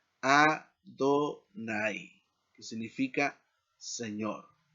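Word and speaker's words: אֲדֹנָי: El queré de esto o cómo debe leerse esto es este que dice aquí Adonai, que significa Señor.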